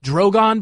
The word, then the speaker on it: Drogon: Drogon, by the way. There are 3 dragons, and one of their names is literally Dragon. It's just what is that? It's got an emphasis on the other syllable.